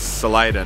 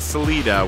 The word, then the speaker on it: Salida: Yes, Salida, not Salida, which I thought the pronunciation because it was Spanish. We've been told multiple times that the Coloradoans say Salida.